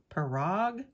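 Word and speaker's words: Pirog: Nick and I think his last name is pronounced perog it's p-i-r-o-g and his 3 A.M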